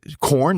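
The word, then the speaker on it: Quorn: do you spell it is it corn like q o r n r n okay all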